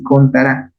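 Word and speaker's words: CONTARA: se llama la función contará no lleva tilde pero se pronuncia así contará la función contará te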